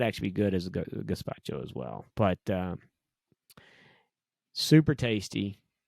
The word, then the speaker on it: gazpacho: Caspaccio. Yeah, it's Cold a cold gazpacho. Yeah, gazpacho. gazpacho, not with a C.